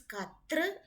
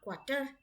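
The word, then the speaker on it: quatre: the t-r-o-i-s truck q-u-a-t-r-e it is t-r-e at the end not t-e-r it is cut through and not quarter if is for pronounce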